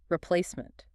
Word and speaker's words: replacement: Where's the stress there? It's right in the middle. Replacement. Replacement. I feel like the re is very short. It's not replacement. Correct. It's a schwa sound, almost like replacement.